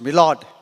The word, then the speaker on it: my Lord: uh mil lording so my Lord in courot is pronounced milord so every and he